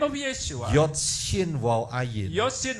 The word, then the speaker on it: Yeshua: dan sudah ada unsur nama Yesua, Also there is the name of Yeshua. bukan Yahsua. It's not Yeshua.